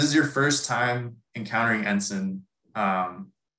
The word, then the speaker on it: NSIN: ensign if this is your first time encountering ensign um it's pronounced ensign it's nsin but it stands for the national